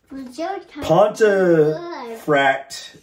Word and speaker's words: Pontefract: Pontefract, is how you pronounce it, is in Yorkshire.